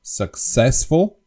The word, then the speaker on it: successful: for example the word the English word successful successful has the accent on the second syllable successful but the Slovak people